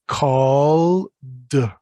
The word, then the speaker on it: called: Don't forget, remember, when it comes to ed endings, check how the word ends to choose what pronunciation. So call is a voiced sound, comes from down here in the voice box. So it's called, called.